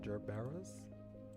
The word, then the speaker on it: gerbera: After saying that, Tojo Minato placed a bouquet of yellow gerberas.